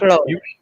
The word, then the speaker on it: Claude: Claude. Look, say it the way it's spelled.